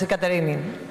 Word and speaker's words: Katerini: Sorry for mispronouncing your name. That is Katerini, the correct pronunciation.